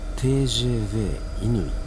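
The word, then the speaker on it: TGV inOui: これをフランス語では TGV イヌイと読みます。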